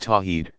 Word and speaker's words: Tawhid: worldly affirming God oneness is called Tawhid pronounced tawheed second Muslims attest that